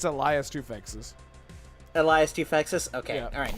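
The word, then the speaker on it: Elias Toufexis: The main character is voiced by Eliphas Tofix, I think his Oh name my is. god, you Elias just Tofix?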